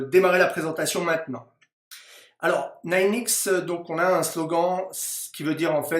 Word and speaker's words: Ninexx: l'entreprise et donc l'entreprise s'appelle nine x d'accord on le prononce à l'américaine est en fait si